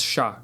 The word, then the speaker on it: ya: I'll only mention that in 90% of the countries, yah will be pronounced as well. Yah. Now, let's get to the exceptions. In Argentina and Uruguay, yah is pronounced as sha.